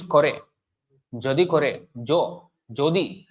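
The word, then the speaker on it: যদি: Jadi kore, jo, jodi. It's not yadi, jodi.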